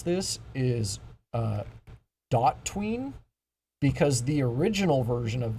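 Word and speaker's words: DOTween: uh has different opinions on how this was pronounced uh I like to call it do tween because it just makes more logical sense that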